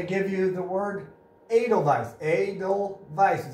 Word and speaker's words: Edelweiss: Edelweiss is how it's pronounced.